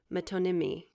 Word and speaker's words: metonymy: It's spelled metonymy.